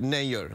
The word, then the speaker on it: Nayyar: Yeah, it's like actually in India you pronounce it Nayyar, like Mayor.